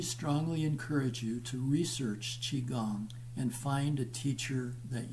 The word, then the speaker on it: qigong: now the fourth is qigong that's pronounced chi gong it's you it's q-i-g-o-n-g it's our secret weapon